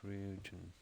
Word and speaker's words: Ryujin: Okay, that's how it's pronounced. Ryujin.